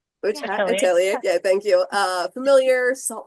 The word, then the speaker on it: Atelier: I just pronounced that right? Witch Hat Atelier.